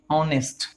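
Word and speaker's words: honest: हो दोस्तों, ऑनेस्ट हो, तो इसको जब आप प्रोनाउंस करते हो तो आपकी ये साउंड आती है भाई ऑनेस्ट, क्या होती है भाई, ऑनेस्ट। तो आ की साउंड यहाँ पर आती है, तो फिर यहाँ पर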